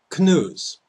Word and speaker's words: Canoes: morning is called Beyond Canoes. It's called Beyond Canoes because tell local media to drop mainstream mass disinformation. Now, why do I call it canoes? Well, for one thing, it rhymes with snooze, taking a nap or